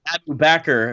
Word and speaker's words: Bakr: um and of course backer if you pronounce it that right way rhymes perfectly with cracker rhymes abu bakr rhymes